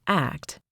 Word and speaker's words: ACT: Acceptance and commitment therapy, often called ACT, pronounced like act in action, takes a different approach.